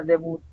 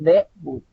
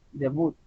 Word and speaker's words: debut: otro ejemplo es debut si ustedes pronuncia bien la palabra debut es al final lleva yo la suba acentuación debut no es de wood si no es debut y como termina en